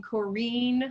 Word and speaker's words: Corinne: part of west texas we would pronounce her name corrine like like rhymes with jaleen karine shepard and i'm